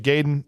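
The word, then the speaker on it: Gaiden: ninja giden g g people say I've heard say ninja gayen and ninja G whichever say either one I don't care if you say ninja gayen or giden yeah but gan we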